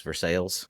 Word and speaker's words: Versailles: I've had people tell me, oh, no, it's pronounced Versailles. And I was like, it ain't pronounced Versailles in French. So why would it be pronounced Versailles in America? Versailles is more accurate to the French than Versailles is.